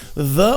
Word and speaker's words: the: As duas pronúncias, elas levam o quê? Esse som entre os dentes, tá? É a língua entre os dentes e você faz essa tremidinha, né?